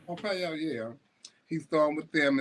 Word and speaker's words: Pompeo: Pompeo a that how you say his name Pompeo Pompeo yeah he's thr with them and saying that